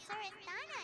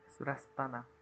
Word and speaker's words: Surasthana: We had never even heard of Greater Lord Rukadalata or the Sanctuary of Surasthana until you mentioned them. Surastana. That's how it's pronounced.